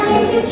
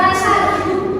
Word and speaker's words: message: E dinner message ya bacanya message ya bukan masaj masaj itu takkan ya tulisannya itu cuma beda